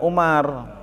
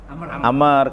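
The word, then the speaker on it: عمرو: Abdillahi bin dibacanya kalau begini bukan Umar. Amr karena ada wawunya. Amr bin Al-As.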